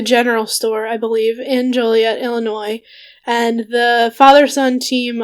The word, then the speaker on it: Joliet: wonder what ethnicity that is it's interesting in Joliet Illinois is that how you pronounce it yep okay Juliet Illinois in 1940 their Sofer formula was developed